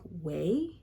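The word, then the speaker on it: OUAI: feel and I think the way you pronounce this company is like way it's o-a-u-i so like all the vowels I don't know and I use the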